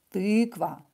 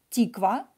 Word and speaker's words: тыква: It's ы. Тыква. Угу. With ы. Тыква. Not тиква. Тыква.